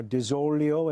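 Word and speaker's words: DiZoglio: senator from Methuen Diane des Aglio I pronounced it the American Way right now des olio as they would in in Sicily you can pronounce it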